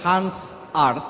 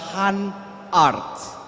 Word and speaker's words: Han Arts: Saya sedikit menyampaikan koreksi bahwa kalau yang tertulis di rundown acara tertulis Hans Arts, yang benar adalah Han Arts. Han Arts, tidak Hans, bukan Hans, tapi Han Arts.